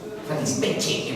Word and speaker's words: fattispecie: llamas a esto fattispecie, fattispecie en verdad, porque así se pronuncia en italiano, si le llamas fattispecie, uy, qué capo el grito.